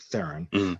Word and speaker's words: Theron: what andy the uh that's that's the charlie theron character or theron that's how that's how you pronounce it theron um how her character uh literally because she's